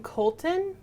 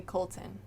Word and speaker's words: Coulton: And I apologize because I don't know if I know how to pronounce his name fully correctly. But the artist's name is Jonathan Coulton, or Coltrane, or Cole. It's Coulton. I would say Colton.